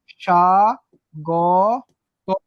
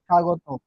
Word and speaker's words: স্বাগত: তারপরে দেখো স্বাগত প্রথমে যুক্ত আছে, তার মানে ব ফলার উচ্চারণ হবে না, তাহলে দুন্দস্বটা কি হয়ে যাবে? তালব্য হবে সা গ ত, স্বাগত।